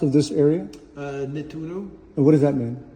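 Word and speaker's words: Nettuno: I'm sorry, how how was this name pronounced of this area? Uh Nituno.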